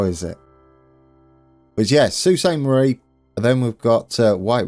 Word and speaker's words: Sault Ste. Marie: Sault Ste Marie there thank you for the pronunciation uh I gave it a go how is it was yes Susan Marie then we've got uh White River to hook